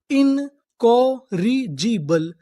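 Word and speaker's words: incorrigible: इन कॉ, आर हमारा 2 बार लिखा है। कितनी बार पढ़ेंगे? 1 बार।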